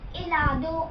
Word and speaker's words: helado: Always remember that in Spanish, H letter, if it's at the beginning of the word, then it is silent. Like hasta, helado, ache. Ache means H and helado means ice cream. So these have H in the beginning, but they are silent.